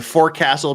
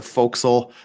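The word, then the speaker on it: forecastle: boat Swain became bosen the for Castle became the folkal things like that they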